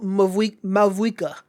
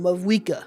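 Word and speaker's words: Mavuika: wishes for my girl, Mavwika. I think that's how you're supposed to say her name, Mavwika.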